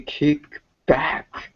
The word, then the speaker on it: kickback: the noun Ken maybe kick back kind of Kick Back okay it's and in pronunciation it is a it is pronounced like a compound noun like air blinge baseball